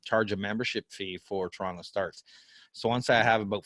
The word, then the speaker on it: TorontoStarts: I never remember how to say it properly. It's TorontoStarts. You had it right the first time.